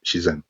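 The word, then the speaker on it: 自然: uh this chinese word i forgot the chinese pronunciation for it but in japanese it's shizan and it means uh naturalness or spontaneousness and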